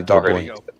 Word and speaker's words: Doherty: Doherty, however you pronounce his name, can play at that level. No, you said it perfectly. You said it perfectly, by the way, Doherty.